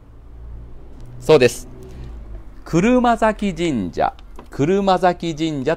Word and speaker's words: 車折神社: ますかそうです車折神社車折神社と言います車が折れると書いてねこれで車折と読むんですよで